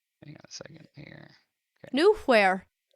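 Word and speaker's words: Knuehyre: in new air hang on a second here new where it's gnomish it's pronounced new here new where new where shall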